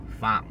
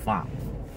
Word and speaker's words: Pham: Pham, okay? Almost like farm, but Pham, like a...